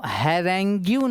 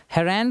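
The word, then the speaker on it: harangue: Now question number 3 क्या बोल रहे हैं, अच्छा इसको हैरेंग्यून मत पढ़ना, इसको हेरैन पढ़ते हैं, हेरैन, इसलिए इसका प्रोनाउंसिएशन होता है।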